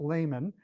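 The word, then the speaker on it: Lahman: I used, I think it's actually pronounced layman, baseball database through 2023.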